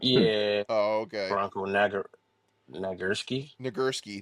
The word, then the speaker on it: Nagurski: Nagurski. That's how you say it.